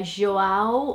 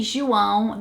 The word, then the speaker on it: João: The name João would probably be here João or João, but definitely João.